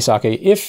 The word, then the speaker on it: sake: You know, you can check out Nigori sakes. They're not sakes. Yeah, not sake. Sake is a better pronunciation.